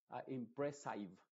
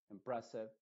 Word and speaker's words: impressive: ser la i original es decir nunca se va a pronunciar como impressive nunca de esa forma sino que siempre con una I modificada que es como seb seb como una e pero muy muy apagada impressive passive massive agressive